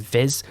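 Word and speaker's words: vis: about earlier which is spelt v i s like viz that's the value which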